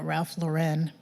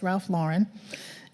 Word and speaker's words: Ralph Lauren: companies such as Ralph Lauren I used to mispronounce that all the time and call it Ralph Lauren but it's Ralph Lauren and Gucci for those of you who are